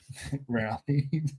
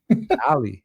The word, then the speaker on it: Ally: Rally. Stick out the R. Ally. No, because it's an ally, no?